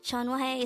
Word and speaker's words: 전화해: tense form of the verb chon wahada again chon wahe is an informal way of saying call me